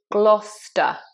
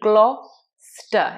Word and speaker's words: Gloucester: Next one is Gloucester. Now this is another example of an English word where we have a silent C, just like in Leicester. It's Gloucester. It's just Gloucester.